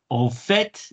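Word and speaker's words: fait: part-time as a teacher fet in fact the t is pronounced there now all fet in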